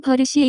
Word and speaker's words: 버릇: The pronunciation of this word is closer to. 버릇.